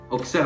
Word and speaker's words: Auxerre: dise et au cercle non c'est auxerre auxerre avec un x sur sa logique entre en parle pas au nom pour nous c'est auxerre avec le x le x prince bruxelles